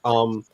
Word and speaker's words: Sonix: Sonics, I think is how it's pronounced.